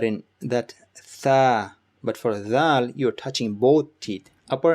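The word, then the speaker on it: ذال: Next we have is Thal. Thal is pronounced when you basically bite your tongue, tip of your tongue, like this. Thal.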